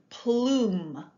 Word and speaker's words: plume: A long U can say U, or sometimes ooh. And in this word, it says ooh. This is the word plume.